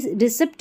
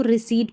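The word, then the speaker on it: receipt: इसको सूडो पढ़ेंगे और ये रिसीप्ट नहीं पढ़ते। इसको रिसीट पढ़ते हैं। ठीक है? रिसीप्ट नहीं पढ़ते। इसको हम रिसीट पढ़ते हैं। यहां पर भी पी साइलेंट है। ठीक है? ये जो रिसीप्ट पढ़ते हैं कई लोग तो यहां पर पी साइलेंट होता है। रिसीट पढ़ना है आपको।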